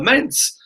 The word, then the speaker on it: Mainz: Mainz, that's how you say it.